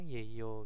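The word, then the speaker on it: 예요: Yeyo, yeyo atau yeyo gitu ya. Ketika bertanya tentang ini tadi itu ya, tujuan subjeknya atau atribut subjeknya. Jadi pengucapannya itu yeyo, yeyo gitu ya.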